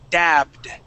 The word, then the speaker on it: dabbed: D okay and it's going to be a d because we have a b right right okay so the way we would pronounce that is dabbed dabbed good dabbed okay